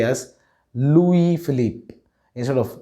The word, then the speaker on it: Louis Philippe: is commonly mispronounced as luis philip but the right pronunciation is louis philippe the s at the end of louis is silent and the philip should be stretched it's philippe it's a